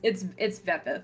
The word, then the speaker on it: Vepith: I'm afraid I'm gonna say it wrong. Vepith? No, it's Vepith.